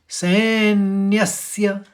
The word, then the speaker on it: सैन्यस्य: सेन सेन के संग सैन फिर न्यस्य न के संग य जुड़ा है तो न्यस्य देखो आपको दो स का उच्चारण सुनाई दे रहा होगा सन्यस्य न के संग एक य न और जो